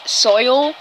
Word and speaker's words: Soylantas: It's Soylantas. Like lanterns, but lantas. Like Fanta, but Lanta with an S.